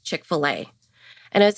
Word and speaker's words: Chick-fil-A: to explain to my mother-in-law how it was pronounced Chick-fil-A and I was like you know how like